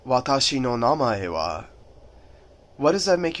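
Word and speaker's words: 名前: Now, if you want to say your name, if you want to say the word name, it actually sounds pretty similar to English. It's na-ma-e.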